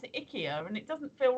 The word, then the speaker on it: IKEA: you I'm building more Ikea furniture or is it ickier the adverts now say Ikea and that sounds wrong because it sounds like you know oh icky icky yeah we've got to